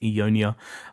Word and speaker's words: EUNOIA: I think it's pronounced EUNOIA.